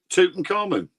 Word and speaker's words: Tutankhamun: Pronounce it and then. Tutankhamun.